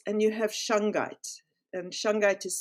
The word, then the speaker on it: shungite: you have courtz and you have shangai and shangai is spelled s h u n g i t